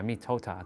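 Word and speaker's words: mitote: Your whole mind is a fog, which the Toltecs called a mitot, it's called mitota. Yeah, mitota, that's how you say it.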